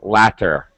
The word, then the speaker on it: latter: want to explain that for British people they will always pronounce their te's always remember British people love tea so they would always say latter um as an American I'm I'm actually gonna pronounce these two words exactly the same latter ladder ladder it's called it's called